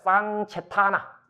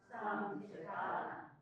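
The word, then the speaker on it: sañcetanā: 쌍체타나 쌍체타나 인도말에 C 발음은 K 발음을 내지 않고 치ció 발음을 냅니다. 쌍체타나 그럼 క్ష체하가 뭐냐면 의도합입니다.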